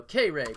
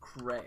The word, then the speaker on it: Cray: So, Kay Ray, but someone thought it was Cray, and I liked that pronunciation. So, here we are making my name Cray.